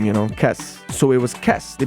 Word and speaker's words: Kes: Let's just use your name, Kes.